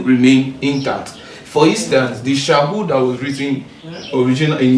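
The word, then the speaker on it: שָׁאוּל: So this is pronounced as Shahul.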